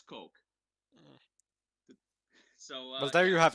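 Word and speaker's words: Koch: pronounce uh coke k-o-c-h on their actual website they say you pronounce it as coke so well there you have it yes so it's heckler and coke g36c uh are one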